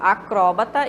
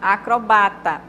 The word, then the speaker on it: acrobata: Acróbata e acrobata, pode ser das duas maneiras.